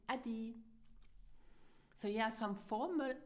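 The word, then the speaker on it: Äddi: So you pronounce it Adi.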